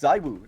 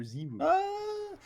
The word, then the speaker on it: ZywOo: Zywoo. If we're French, he's Zywoo, but whatever. According to French people, we got to pronounce it Zywoo because he's a, I don't know, Englishophile or whatever.